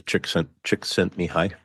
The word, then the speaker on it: Csikszentmihalyi: I've heard it described as chick sent me high.